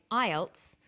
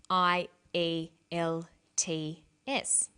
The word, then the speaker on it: IELTS: acronym with an acronym we don't pronounce the individual letters we pronounce it as a word so we say IELTS not I al t s some other examples of